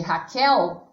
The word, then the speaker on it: Raquel: A palavra Raquel é um nome próprio, que também é uma oxítona, porque a sílaba mais forte de Raquel é o quel, que está na posição última.